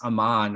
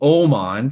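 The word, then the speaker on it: Aman: pronounce his name now I always told Niels Amman or a man or something and it's Oman so uh he yeah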